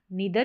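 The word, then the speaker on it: neither: फिर यहां पर नीदर या नेदर दो तरीके से इन दोनों तरीके से आप इसको नीदर या यहां पर नीदर या नाइदर नेदर नहीं बोलेंगे इसको। नीदर या नाइदर दोनों तरीके से प्रोनाउंस कर सकते हैं।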